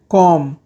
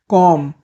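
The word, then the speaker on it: comb: कंघी करना, कॉम, कॉम। कॉम में बी साइलेंट होता है।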